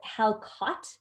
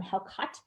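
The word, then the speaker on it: hákarl: probably this thing um it's called how caught that's how that's pronounced and I'm how cut and it is essentially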